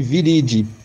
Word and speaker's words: viridae: Viridae, mas lê-se viridi. Algumas pessoas me falam, pô, mas está escrito Troianas viridae e você canta viridi, né? É porque é a pronúncia em latim dessa nomenclatura.